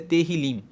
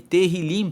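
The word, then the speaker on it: Tehilim: se escreve te ilim com H mas se pronuncia terril liim e teril liim significa louvores então o livro dos Salmos ele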